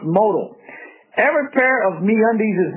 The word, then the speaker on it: modal: Modal is pronounced modal.